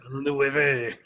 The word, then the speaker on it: Villeneuve: Denis Villeneuve. Something I don't know how to pronounce it. Got to pronounce it with the French accent. Yeah, Villeneuve.